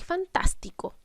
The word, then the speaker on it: fantástico: Por ejemplo, lenguaje y fantástico. En lenguaje y en fantástico están acentuadas en la sílaba wa y en la sílaba tas, pero solo la sílaba tas lleva su tilde, lleva este acento gráfico.